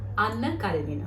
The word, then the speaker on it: Anna Karenina: According to Russian pronunciation, Anna Karenina.